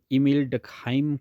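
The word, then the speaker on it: Émile Durkheim: इसकी जो actual pronunciation है वैसे वो ईमेल डकहाइम करके होती है।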